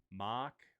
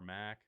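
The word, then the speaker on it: Mack: This was the first in the US, made by Mach or Mac. I can never remember. I get told by my European friends I say it wrong, but I say Mac.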